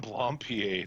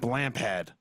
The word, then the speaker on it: Blampied: Adam Blompier this week. Is that how you fucking pronounce it? Yeah, I've always pronounced it Blampad. Blampad. No, I think it's Blompier. Because he's fancy and European.